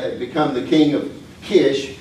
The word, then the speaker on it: Kish: So Sargon uh as we said had become the king of Kish is would be the proper way to say this one.